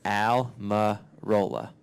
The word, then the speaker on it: Almirola: Eric just like with an e but it's spelled with an A and it's alar Rola so it's pretty simple but I guess when